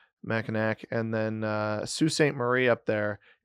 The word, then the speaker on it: Mackinac: You don't actually pronounce the W as aw. Mackinac, and then Sault Ste.